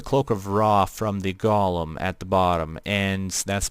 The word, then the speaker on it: Golem: But I know it's Golem, but I usually just pronounce it Golem because it's easier to pronounce that way, and it's pretty much the same pronunciation.